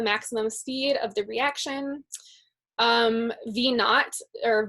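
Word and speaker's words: V₀: V naught, or V sub 0 is what it looks like, but it's pronounced V naught, is like the initial speed.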